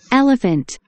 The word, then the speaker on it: elephant: 정확하게 소리 못 내니까 PH는 누구하고 똑같은 소리 내죠? 애초 F하고 똑같은 소리 내죠. 오케이. 그래서 이렇게 합치면 펀트. 펀트가 아니고 펀트. 자, F는 F답게 P는 P답게 발음하세요. Elephant.